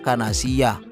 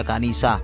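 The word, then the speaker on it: كنيسة: Keempat, juga pada kata kanisah yang dibaca kanasiyah, yang seharusnya dibaca kanisah yang berarti gereja.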